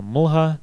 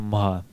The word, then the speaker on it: mlha: Например, слово «jablko» (яблоко) может произноситься как «jabko», а «mlha » (туман) как «mha».